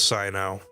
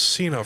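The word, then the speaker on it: Cyno: It really is Sino. If I pronounced that off camera out investigating a case involving canned knowledge. I thought it was Cena for some reason.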